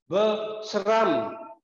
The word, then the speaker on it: sram: Chúng ta sẽ đọc thành hai âm tiết ver và phụ âm đôi âm sr am sram. Khi chúng ta phát âm chúng ta lưu ý kỹ phụ âm đôi âm sr am sram. Chúng ta đọc cái từ này thành hai âm tiết ver sram nghĩa là học.